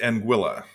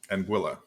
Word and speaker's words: Anguilla: well so it's pronounced Anguilla it rhymes with vanilla Anga Anguilla okay yeah okay I